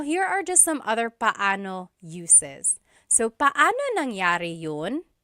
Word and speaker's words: paano: It's technically paano. Paano. When there are two vowels together, you say them separately. Paano. But when speaking quickly, Filipinos just say paano.